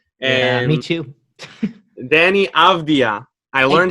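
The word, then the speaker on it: Avdija: Danny Avdia. I learned how to pronounce Patrick Williams slander on this podcast aloud. Avdia.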